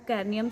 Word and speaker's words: cranium: Protected by bony box इन the skull called कर्नियम। जो मेरी pronunciation में उसमें थोड़ी सी प्रॉब्लम होगी, जिसे मैंने पहले ही बता दिया है। तो कैर्नियम CRANIUM, क्रैनियम, क्रैनियम जो भी आप बोल सकते हैं इसको।